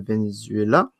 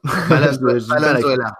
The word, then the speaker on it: Valenzuela: parce que leur latéral gauche s'était blessé, Milton Venezuela. Quelque chose comme ça. Valenzuela. C'est Valenzuela, ouais. J'ai du mal avec la prononciation, mais donc voilà, c'est un peu tout ça, nos départs.